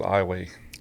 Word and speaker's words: Iowa: town called Iowa Louisiana it's spelled just like the state of Iowa but uh we pronounce it iway I figured that out